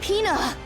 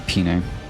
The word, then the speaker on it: Pina: My name's Pina! I think I've been pronouncing it wrong. I always say Pine.